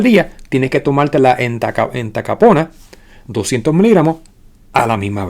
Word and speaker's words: Entacapona: Entacapona, así mismo se pronuncia, en tacapona.